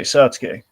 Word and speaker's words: Satsuki: Okay, Satsuki. Satsuki. Well, I keep hearing K, Jacob, in the movie. Are you sure It's Satsuki. It ends in Ki.